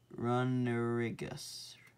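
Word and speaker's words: Runerigus: We got an Abomasnow, Vikavolt, Galarian Berserker, Scyther, Cramorant, Galarian Yamask, Masquerain, Eskew, Snorlax, Luxray, Zamazenta, Trubbish, Galarian Runnerigus, that's how you say it, Entity, Spiritomb, and Lampent.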